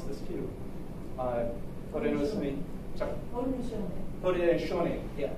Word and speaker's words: Haudenosaunee: Haudenosaunee. Yeah, I keep forgetting the SAU is an SHO, Confederacy.